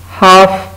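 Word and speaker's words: half: उसके बाद है हाफ, किसी चीज़ को हाफ करना, दायरे का हाफ हो सकता है, किसी भी चीज़ का, उसमें भी एल साइलेंट है।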